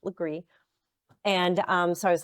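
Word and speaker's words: Legare: that second book, which is The Girl on Legree Street, which is spelled Laguerre, but it's pronounced Legree.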